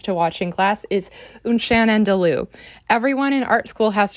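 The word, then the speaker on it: Un Chien Andalou: wacky little films to watch in class, is Unchan and Lou.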